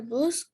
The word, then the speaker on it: bus: Do you read books on the bus? Very good. La palabra, esta palabra se pronuncia como con A. Bus.